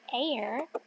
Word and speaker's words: heir: and queen okay so I'm thinking about this word heir and I'm noticing it's not spelled the same as the air we breathe I'm also noticing it